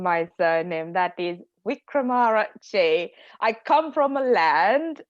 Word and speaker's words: Wickramarachchi: I will start by pronouncing my surname. That is Wickramarachchi.